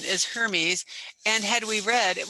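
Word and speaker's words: Hermès: And thank you, whoever told us that the correct pronunciation is Hermes.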